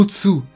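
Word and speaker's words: 撃つ: Le premier se prononce Susumu, qui signifie avancer, et le second Utsu, qui est l'équivalent de frapper en français.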